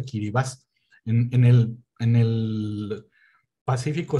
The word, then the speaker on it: Kiribati: postal en que vivas se escribe de kiribati pero alguien me corrigió algunas veces se pronuncia aquí vivas en el en el